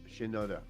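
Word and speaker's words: Mike Shinoda: motivating factor for M was how do you pronounce his name Shinoda Shin uhuh Shinoda um so Shinoda recently sat down to discuss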